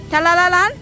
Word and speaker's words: Tegallalang: How do you pronounce this name? Come on. Tegallalang. Tegallalang?